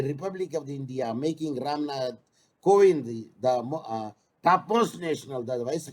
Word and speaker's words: Kovind: Sabita Kovind or Kovid. So anyway, that is the pronunciation, but the spelling is the Kovind.